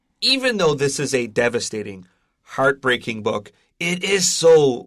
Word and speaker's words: devastating: for it is devastating yeah that's devastating and that's spelled s t a t i n g d e v a s t a t i n g it's devastating and that's why i could not